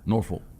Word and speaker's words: Norfolk: cow cutters this year nor folk state well the locals don't really pronounce the l yeah it's a norfolk well norfolk yeah norfolk